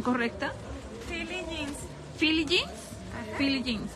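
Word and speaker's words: Feelings: Amiga, ¿me puedes comentar cómo se llama la tienda, la pronunciación correcta? Philly Jeans.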